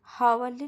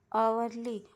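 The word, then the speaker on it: hourly: honest का अ का तो यहां पर लगाएंगे एन नॉट अ एन आवरली visit तो यहां पर हवरली नहीं बोलेंगे अवरली ओ यू आर एल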